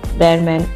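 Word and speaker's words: Behrman: and see john c bearman replied now baher man h can be a silent bear man that's how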